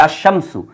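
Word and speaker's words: الشمس: আলিফ লাম আসতেছে কিন্তু আলিফ লামের উচ্চারণ নাই বরং এই যে শিন এই শিনের উপরে কিন্তু একটা তাসদিদ দিতে হচ্ছে এই যে র এই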